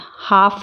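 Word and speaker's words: half: अब L कब silent होता है? जब वो AOU के बाद में आता है, जैसे काफ, L इसमें साइलेंट रहेगा, काफ़ी पढ़ेंगे, हाफ ही पढ़ेंगे, काम पढ़ेंगे, काल्म नहीं पढ़ेंगे, काम।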